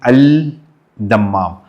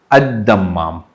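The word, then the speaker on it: الدمام: can see the board, it's written Al-Dammam, but you have to pronounce it as Ad-Dammam.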